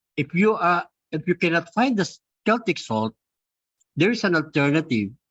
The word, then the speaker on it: Celtic: It's pronounced as Celtic, okay, because this is, I think, a product of Switzerland or Austria. That's why it's pronounced as Celtic, not Celtic, okay.